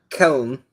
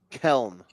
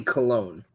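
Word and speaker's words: Köln: It's Keln. Keln. Huh. Okay. It's technically Cologne. Cologne. Yeah. Right. That is how they pronounce it.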